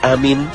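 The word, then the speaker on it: آمين: Amin diucapkan dengan memanjangkan a dan mi yang berarti kabulkanlah ya Allah. Dalam hal ini perlu diperhatikan panjang pendeknya ucapan amin, karena jika tidak tepat panjang dan pendeknya bisa berarti lain.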